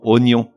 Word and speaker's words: oignon: Ensuite, on a quelques mots qui s'écrivent avec un G suivi d'un N qu'on convertit automatiquement en N, comme dans oignon.